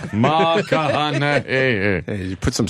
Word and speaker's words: McConaughey: How do you say his name again? Matthew McConaughey. McConaughey.